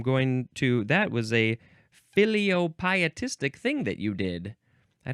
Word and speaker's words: filiopietistic: it's time for the last word which is filiopietistic filiopietistic it is spelled f i l i o p i